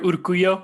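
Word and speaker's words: Urcuyo: it's pronounced hi uh my name is urkuyo that's how you say it's from nicaragua um yeah i live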